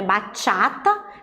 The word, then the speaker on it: Bachata: nossa cultura atual brasileira Qual a pronúncia correta então é barra chata daí que vem o nome formais que eu não tenho o assento na escrita na hora de falar nós temos que pensar nesse assento a pronúncia correta a